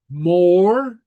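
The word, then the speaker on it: mòr: More, which means big or great. Pronounced like more. Okay. Except with a long O.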